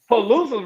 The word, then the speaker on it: Palooza: Nah, that's Palooza rhymes with snooze.